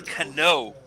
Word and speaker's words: Canó: Robinson Canó. If you go to the country where Mr. Cano is from, they say that Cano.